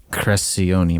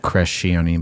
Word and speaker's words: Crescione: I got that Italian a lot of people mispronounce my last name, but it's it's Crescione, but a lot of people say Crescione, but it's that C.